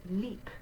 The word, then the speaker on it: lieb: All right, so I have the P in red to remind you that even though you have a B spelling, it looks like lieb, it's lieb. We're going to say that B like a P.